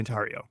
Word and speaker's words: Tarrio: certificate is Enrique tario it is it's Enrique andario and you don't want to be called by